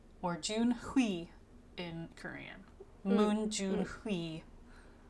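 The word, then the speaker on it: Junhui: That's how you pronounce his Chinese name. Or Junhi in Korean.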